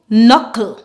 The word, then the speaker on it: knuckle: have a silent k whenever we have a combination of K and N together at the beginning of a word we remove move the